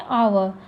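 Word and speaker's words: hour: तो अब जैसे कि क्या कहते हैं आवर, इसको क्या प्रोनाउंस करते हैं, आवर।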